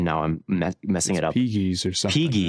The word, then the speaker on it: Pegues: I looked up the pronunciation and now I'm messing it up. Pegues or something. Pegues, right? yeah, Pegues.